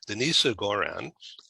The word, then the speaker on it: Denisa Goran: because of people like our special guest today denise goran did i pronounce that correctly yes that's correct it's denis